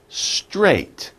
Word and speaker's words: straight: A little bit difficult, but you think about it, S-T-R, str, and think ate, right? I ate breakfast this morning. Straight. Straight. It's one syllable, one grouping of a sound.